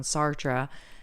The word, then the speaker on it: Sartre: to listen to the episode we did on Sartre.